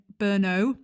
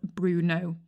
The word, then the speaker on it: Brno: anyway my point being i've been mispronouncing brno that's the correct pronunciation in this episode i keep referring to it as bruno so burno is the